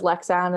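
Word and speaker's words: Leksand: to pronounce it yeah the town is lexan and then the club is lexan's ef um that's like the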